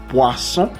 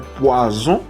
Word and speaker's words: poisson: La OI, ¿se acuerdan? Que es wa. Entonces, poisson. Y aquí no puede ser poison porque es doble S.